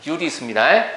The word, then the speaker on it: 유리수: 유리수의 유자는 있을 유자거든요. 길게 발음하는 게 정상이에요. 유리수하고 짧게 발음하면 꼭 유리로 만든 수 같잖아요. 알겠죠? 유리수입니다.